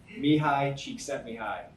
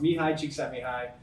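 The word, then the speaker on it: Csikszentmihalyi: just I'll tell you Mii Chek sent Mii doesn't look like that it's pronounced Mii cheeki High um he's a psychologist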